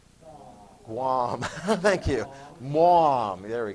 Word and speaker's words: Guam: Starts with a G, rhymes with mom. Guam.